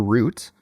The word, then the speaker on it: route: A paper route or paper route, depending on how you decide to pronounce this word. There's two different options, route or route.